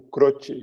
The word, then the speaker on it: Croci: Então tá, pessoal, hoje a ideia era trazer o Marcos Croce, o Croce, não sei como é que o teu italiano pronuncia. Mas certo é Croce, mas todo mundo chama de Croce mesmo.